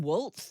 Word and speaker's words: Walz: But what we're seeing with Tim Walz, and somehow it's pronounced Walz. I don't know why the Z is an S in that case.